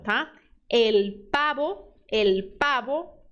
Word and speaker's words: pavo: força nesse L el letra V som de b de bola tá el pabo el pavo R vibrante tá R